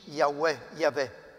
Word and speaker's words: Yahweh: Che tradotto in italiano sarebbe, è difficile la traduzione, sembra che in ebraico si pronunci Yahweh, che è la Y, la H, la W e la H.